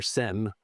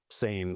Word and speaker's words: seine: You might think of the river sen, but we actually call them sane s boats here.